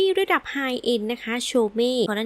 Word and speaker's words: Chaumet: เข้า มา คอมเมนต์ ว่า ถ้า เป็น ภาษา ฝรั่งเศส ก็ ต้อง อ่าน ว่า โชม นะ คะ ดัง นั้น ค่ะ จาก นี้ ไป ฉัน ก็ จะ อ่าน ว่า โชเม่ แล้ว กัน นะ แม่